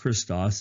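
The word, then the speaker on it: Χριστός: greek the greek word for christ is christos pronounced christos it's the greek letters chi rho iota sigma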